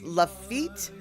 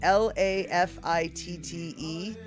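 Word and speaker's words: Lafitte: place the saloon is lafit I think is how you pronounce it L A fi tte lafit blacksmith shop um is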